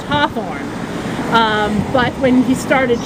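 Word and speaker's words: Hathorne: New England accent the the family name h a t h o r n e is naturally pronounced Hawthorne um but when he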